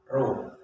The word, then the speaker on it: ro: 2 atau 2 dibaca Ro.